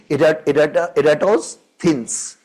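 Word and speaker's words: Eratosthenes: But the original pronunciation would be erats thins. So we'll say it ertoins.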